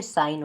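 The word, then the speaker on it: sign: एन से पहले यदि जी है, देखिए एन से पहले जी है ना तो जी वहाँ पे साइलेंट है, ठीक है, साइन हो गया, फैन हो गया, ठीक है, साइलेंट वर्ड्स हैं, ठीक है।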